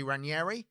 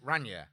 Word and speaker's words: Raniere: Well, apparently, this guy, Keith Raniere, people pronounce it different. Like, in the people who know him and talk about it from the documentary and that say Raniere. Yep. But everywhere official calls it Raniere.